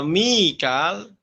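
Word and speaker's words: ميكائيل: Kemudian Mikail ya pada kata wa Mikal Imam Hafs, Imam Syu'bah bagaimana cara bacanya? Wa Mikaila ya. Idhofu hamzah maksurah wa ya qabla la ma'al madil muttasil wa Mikaila ya.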